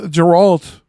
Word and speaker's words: Geralt: Like we're used to glorious defeat, and that is why the Geralt will lose. Geralt. Thank Whatever you. the fuck his name is. Hard G. Put some respect on his name.